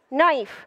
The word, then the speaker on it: knife: дальше следующее слово ножек knife ножи на его кей вначале не читается помним дальше лист лив